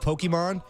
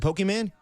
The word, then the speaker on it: Pokemon: home to play some Pokemon?" No, don't don't say it like that, man. Pokemon. It's Pokemon and Pokemon. You sound like an old man when you say that.